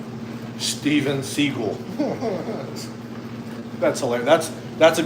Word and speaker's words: Seagal: Probably get one for 350 if you could find a steel Stephen Seagull. That's hilar. That's That's a good one. Chris D. It's not Steven Seagal. Steven Seagull.